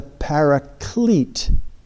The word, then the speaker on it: paraclete: And we sometimes say, in some translation, he promised to send the paraclete. That's kind of the English way of saying parakletos.